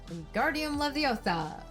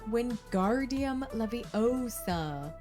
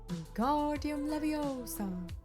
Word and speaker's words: Wingardium Leviosa: You're saying it wrong, Harry heard Hermione snap. It's Wingardium Leviosa, making the gar nice and long. Wingardium Leviosa.